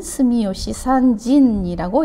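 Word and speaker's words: 住吉三神: 그래서 삼신이라고 쓰고 일본어로 읽을 때는 스미요시 산진이라고 읽습니다.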